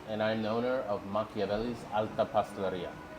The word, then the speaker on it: Machiavellis: My name is and I'm the owner of Makavelli's Ala Pastaria.